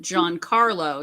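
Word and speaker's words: Giancarlo: i have a friend named john carlo spelled g-i-a-n so it's a soft g for him i was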